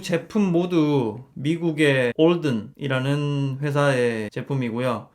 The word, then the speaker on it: Alden: 두 제품 모두 미국의 올든이라는 회사의 제품이고요 어 우리나라에서는 알든이라는 명칭으로 많이 불리고 있어요 어 철자가인데 현지 사람들은 든이 아니라 올든 가깝게 발음을 하고 있고요 그래서 저 저는 오늘